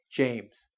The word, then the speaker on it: James: When you say something like my name: "James"; even though it's got two vowels, it's only got one vowel sound, so it's a single syllable.